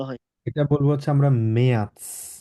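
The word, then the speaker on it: März: আছে, ঠিক আছে, মেয়ার্স, ওকে, মেয়াৎস, ত উচ্চারণ হবে এখানে, ঠিক আছে, ত উচ্চারণ করে তারপরে স উচ্চারণ হবে, মেয়াৎস, মেয়ার্স।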